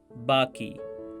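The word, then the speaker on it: बाक़ी: Pay attention to the last sound of the word cheese, which Manoj Jha pronounces as cheej and baqi as baki. Compare his Hindi pronunciation of cheese with Kishore Kumar's Urdu pronunciation.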